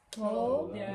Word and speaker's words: todavía: All right, let's try just this word, and we're going to blend those syllables a little bit more so it sounds like one word.